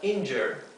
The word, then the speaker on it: injure: sonido en si y esta u se pronuncia como un sonido intermedio entre una e y una a o sea es iner